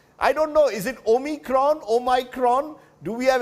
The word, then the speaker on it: omicron: to worry about rather how do you pronounce it in south africa dr chatty now we pronounce it omicron variation in pronunciation for a variant okay yes dr reddy